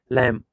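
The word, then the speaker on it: lamb: लैम, यहाँ पे बी जो है साइलेंट रहता है पढ़ने में।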